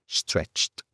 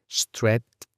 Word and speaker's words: stretched: Tenemos stret como primera parte, después una ch y después otra t.